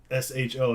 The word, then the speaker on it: SHO: they had the Taurus SHO out of nowhere, and back then it was you pronounced the whole SHO. Now they call it the Ford Show, or for whatever reason.